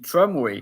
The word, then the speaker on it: tramway: Maybe you can translate them pronounce them in tramway, but normally you pronounce well the R, even if it's an English word, you say tramway.